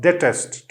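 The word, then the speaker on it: detest: जो है वो लगाई, डिटेस्ट, इट इज नॉट डेटेस्ट, ठीक है, इट इज डिटेस्ट। दूसरा वर्ड है कंट्रोवर्सी, इसके भी जो है वो दो प्रोनाउंसिएशन है।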